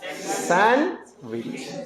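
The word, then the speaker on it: sandwich: test खराब हो जाएगा क्या पढ़ेंगे इसको सैंडविच डी साइलेंट होगा इस क्या पढ़ेंगे सैंडविच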